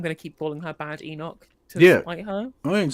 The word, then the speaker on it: Badenoch: The thing is, I know from watching Kemi so much that her name's pronounced Badenoch, and I know full well she absolutely hates it when you call her Badenoch, because it means you can call her Bad Enoch.